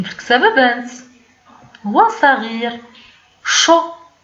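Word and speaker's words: chaud: شو ساخن، دونك شو ديك الدي ما بانش في النطق ديالها، ما بانش.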